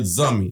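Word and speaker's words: zanmi: So, if you ever hear the word zummy, that again, that's Z A N M I. Know that we are calling you a friend. So, Zani Zi, don't protect, don't pronounce the N.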